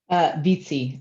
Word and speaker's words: Vizzi: So with no further ado, I will announce, is it Vizzi? Did I pronounce that correctly? Vizzi, actually. Vizzi, it's Italian, all right.